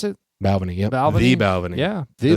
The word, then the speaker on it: Balvenie: Is that how you pronounce it? Balvenie.